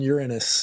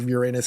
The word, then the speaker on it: Uranus: loop about facts on Uranus, or Uranus, however you want to pronounce it.